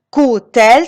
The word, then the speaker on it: coud-elle: La première chose, c'est si le verbe se termine par la lettre D, on prononce T à l'oral. Exemple. Elle coud sa robe. C'est la phrase déclarative. Coud-elle sa robe?